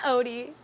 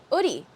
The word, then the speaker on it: Oodie: Wait, is that Odie? It's meant to be pronounced as a hoodie. Oh, it's a hoodie without the H. An Odie. Hoodie. Oodie.